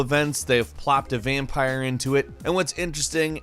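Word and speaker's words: Vampyr: out for in 2018 number 10 is vampire with Y however it is pronounced vampire despite the Y vampire is an action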